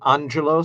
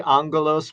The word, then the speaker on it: Angelos: i'm jealous i say angelos myself but it's uh okay but but it's angel and os roman angelos and you